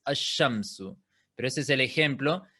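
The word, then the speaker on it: الشَّمْسُ: En ese caso, ahora, por ejemplo, la ya es una letra solar, por eso en vez de pronunciarlo al-shamsu es ash-shamsu.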